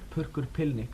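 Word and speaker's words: Purrkur Pillnikk: How do you pronounce that? Purkur Pilnik, and I've got here a review in Conflict 48, Summer 88, a review of it.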